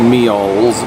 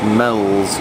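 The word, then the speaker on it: Meols: serve it so we thought it was at meals it's actually pronounced Mel's according to the analysis just to just kicked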